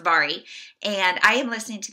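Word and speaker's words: Mhairi: TBR so forgive me for that it is pronounced vari and I am listening to that on audio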